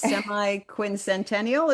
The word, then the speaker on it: semiquincentennial: I remember last time you schooled me uh or you were very helpful in helping me pronounce the technical term. It's semiquincentennial.